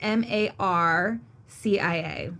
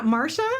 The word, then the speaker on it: Marcia: is that this lady her name is Marcia Mo and it's spelled Marcia is m a r c i a like your nebor so remember your neighbor with the tree yeah Marsha oh I thought it was Marcia no so Tommy he was